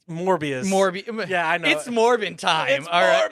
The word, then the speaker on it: Morbius: Was it going to be Morpheus? You said the name wrong, but Morbius.